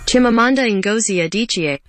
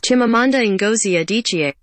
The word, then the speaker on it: Chimamanda Ngozi Adichie: That's a quote from a Nigerian writer's name who I cannot pronounce. Let me say her name. Chimamanda Ngozi Adichie. Say it, play it one more time. Chimamanda Ngozi Adichie.